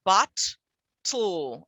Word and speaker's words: bottle: and m's causes trouble if i were to say the word bottle it comes out as bot tool and there's no vowels